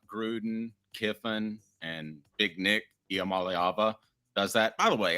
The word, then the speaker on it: Iamaleava: I made him do that because I did not know how to pronounce the young man's name. Iamaleava.